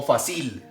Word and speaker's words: fácil: dos hilos muy bien cuál es la sílaba tónica de fácil ustedes dicen fácil o fácil fácil verdad muy bien listo entonces